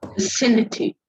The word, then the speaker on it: vicinity: Okay, then VICINITE, Vicinity. vicinity, exactly. Yes, the word ending with Y, 1, 2, 3. The stress is on the third syllable. That is the stress is on the third last syllable.